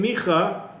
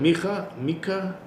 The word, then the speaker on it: Micah: So if you look in Micha, that's how you pronounce it, Micah, chapter 2, verse 1.